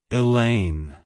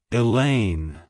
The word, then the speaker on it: Elaine: a variant of the Greek name Helen it's pronounced as Elaine elain Elaine to pronounce it correctly emphasize the lane and